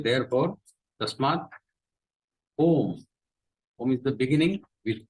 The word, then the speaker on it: Om: is the meaning of om we'll see in details see this entire world and the Brahma are held in this om the entire prti is in three syllables a u m om whereas the non cable